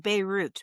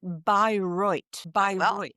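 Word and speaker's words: Bayreuth: It looks like Beirut, but no, no, you pronounce it broit.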